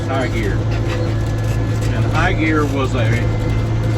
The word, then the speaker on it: Hegari: He liked to grow something called high gear, spelled Hegaria, but it's pronounced high gear.